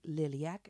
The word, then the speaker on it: Liliac: looked it up because I didn't know the name I'm not from America so I don't want to mispronounce but you say liliac and it's not American I learned that it is Romanian because the father of this band is from Romania and it's his native language and it's the meaning